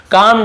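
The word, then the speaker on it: calm: temper and क्रोध गुस्सा कम down ये कल मणि पढ़ेंगे एल साइलेंट होता है कम डाउन यानी शांत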